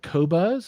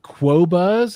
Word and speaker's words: Qobuz: once and for all tell us how you pronounce the name of the company he works for. Spelled Qobuz. And is it Qobuz? Is it Quobuz?